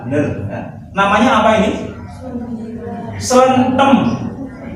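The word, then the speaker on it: slenthem: Selentem. Nah, pengucapannya ya selentem gitu. Karena memang istilah lokal, ya harus diucapkan secara orisinil. Selentem, bukan selentem ya.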